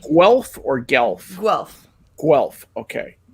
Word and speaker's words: Guelph: So good, do you say Guelph or Guelph? Guelph. Guelph, okay. Because on va dire en français Guelph. Yes. But you would never put the W sound in there.